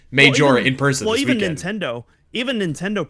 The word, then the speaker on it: Majora: That just made me think of that, which was funny, because she said Majora in person. Well, even Nintendo pronounces it Majora's Mask.